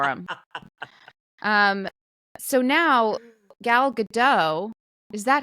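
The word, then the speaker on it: Gadot: um so now gal gdau is that how we say her name name been say wrong have seen recently that you do pronounce the T Gat yeah anyways she is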